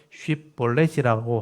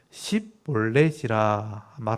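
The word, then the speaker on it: 쉽볼렛: 이르기를 쉽 블랙 이게 히브리 알파벳에서 제일 마지막에 있는 신 하는게 씨앗 발음하고 쌍시옷 바람이 달라요 그래서 쉽 벌레지라고 하는 말을 발음하라 하여 에브라임 사람이 그렇게 바로 말하지 못하고 씹 볼넷이라 발음하면 길라 사람이 곧 그들을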